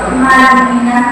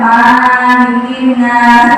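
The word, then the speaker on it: مَلِكِ النَّاس: Malikinas mana? Pendek cepat malikinas karena artinya raja manuiah. Tapi kalau dibacanya maninas itu bacanya sa salah tidak sesuai dengan makas atau tajubah ya.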